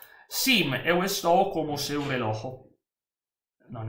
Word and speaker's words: relógio: La R non si legge neanche. O meu relógio. O meu relógio. O meu relógio. O seu relógio. Seu relógio. Allora dice relógio. Mi sembra la R tedesca. Non è la R Como tedesca.